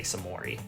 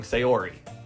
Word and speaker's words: Sayori: to whatever you say samori why do why do I keep saying her name wrong sayori we cross the street